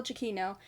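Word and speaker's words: Giacchino: I learned how to pronounce his name I butchered it so many times Michael jaino did the music for this movie and I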